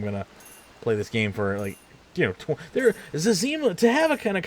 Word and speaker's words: Zezima: Is it Zezima or is it Zima or how is it pronounced? Zezima.